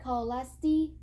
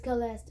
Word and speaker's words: Celeste: He would always say it like Scholastic until I worked up the nerve to correct him. It's Celeste, my family told him, staring at my reflection in the rippling blue water.